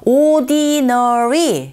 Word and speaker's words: ordinary: ordinary, 그런데 발음이 들릴 때는 ordinary. Ordinary, 드사운드 굉장히 약하게 들리게 되고 첫 번째 강세 주시면 되고요.